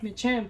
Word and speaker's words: Machamp: Machamp, yeah.